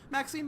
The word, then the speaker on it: Maxine: Maxine rhymes with queen, after all, and dearest, that is hardly a coincidence.